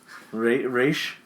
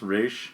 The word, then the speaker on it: Ra's: Oh, the Grand Am I pronouncing it Master right? of Ra's the al Ghul. Raish. Yeah, Raish.